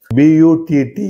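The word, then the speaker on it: butter: நம்ம அந்த இதை பார்த்து ஸ்பெல்லிங்க பார்த்து பட்டர் அப்படின்னு சொல்றோம் ஆனா அநேகமாக கடைசியில ஆர் வரும்போது அந்த வார்த்தைக்கு வந்து அந்த ஆருக்கு உச்சரிப்பு கிடையாது அப்ப பட்டா அப்படின்னு சொன்னா போதும் பட்டா எம் ஏடி டி ஆர்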